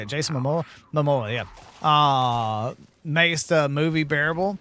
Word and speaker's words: Momoa: Momoa, yeah.